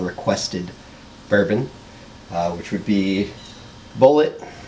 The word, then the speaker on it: Bulleit: Bourbon which would be bullet not bully a someone was telling me it was French it's not well it is but it's pronounced bullet it's gonna be the